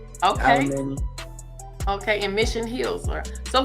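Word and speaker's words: Alemany: Alamany. Okay. Alamany.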